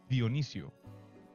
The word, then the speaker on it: Dionisio: Well, it's spelled the way that it sounds.